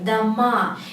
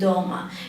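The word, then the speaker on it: дома: word completely for example if you say dama if the stress goes to the last letter dama it means houses plural and Doma if you put this trust to the first syllable to the first vowel it means at home so the meaning is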